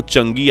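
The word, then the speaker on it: 嫦娥: चांद की देवी तो भले ही कुछ लोग इस प्रोग्राम को चंगी या चांगी कहकर पुकारते हो लेकिन असल में इसका उच्चारण होता है चंगा खैर पिछले 20 सालों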